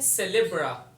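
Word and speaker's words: célèbre: Pronunciation इसकी देखें, सेलेब्रा, noun है।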